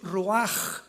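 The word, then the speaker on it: רוח: La palabra para espíritu en el hebreo es la palabra que es roaj, que se escribe ru con ch, pero repito, ese pronuncio pronuncia como J. Roaj.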